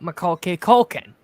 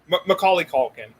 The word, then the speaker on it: Macaulay Culkin: for home alone movies worth watching one uh michael k culkin macaulay culkin yeah yes that's alright if you mispronounced it yeah it's fine yeah i've heard